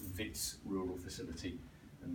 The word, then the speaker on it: Wits: the University of the Witwatersrand is usually just called Wits University, so it's Wits Rural Facility, and that W is pronounced with a V.